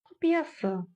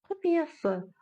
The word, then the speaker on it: құпиясы: Мы видим букву «ы» и вспоминаем, что буква «ы» в казахском языке читается очень и очень кратко. Это твердая и коротко звучащая буква. Да-да-да. Құпиясы. Құпиясы. Она вроде бы есть, но ее вроде бы нет.